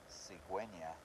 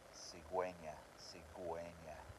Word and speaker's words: cigüeña: For example, the word cigüeña, which is a stork. It needs the dièresis over the U so that you pronounce the U.